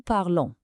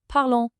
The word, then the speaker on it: parlons: The nous ending o n s gives you a nasal on sound, nous parlons.